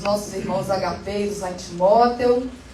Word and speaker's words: Timóteo: Tem que ter a pronúncia certinha lá, né? Não é Timóteo, não. É Timóteo. Né?